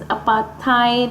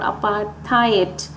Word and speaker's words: apartheid: The pronunciation of this word is apartheid or apartheid.